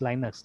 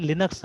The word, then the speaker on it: Linux: तो that is वाई उनका आदत है इसको लाइनक्स प्रोनाउंस करने का, अमेरिकन है ना, दे प्रोनाउंस इट एज लाइनक्स, ठीक है, दैट इज वाई, है ना।